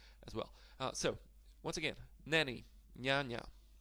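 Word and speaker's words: niania: But as I've mentioned, the letter N with this slash or S or C or Z, they never followed by a vowel. So in this case, the word for nanny, N-A, N-I-A, N-I-A, this is the exact word, N-I-A, not N-A.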